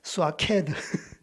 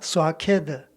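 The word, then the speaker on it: שקד: 이 살구라는 뜻이 이제 히브리어로 발음이 굉장히 어려운데 비가 내릴 때 쏴 내리잖아요. 스와케드 따라해 보겠습니다. 스와케드.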